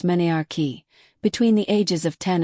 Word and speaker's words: menarche: Most girls get their first period, called menarche, pronounced menarche, between the ages of 10 and 15, but some start earlier and some later.